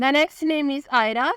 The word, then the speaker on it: AYRA: The next name is आयरा, spelling है AYRA।